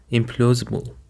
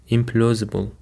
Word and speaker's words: implausible: And for the second word, we've got implausible. Implausible. The stress is on the second syllable.